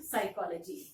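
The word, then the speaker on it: psychology: For example साइकोलॉजी। साइकोलॉजी spelling is पी एस वाई सी एच ओ एल ओ जी वाई साइकोलॉजी। This letter is there in in this letter in this word. Letter P is silent P is silent but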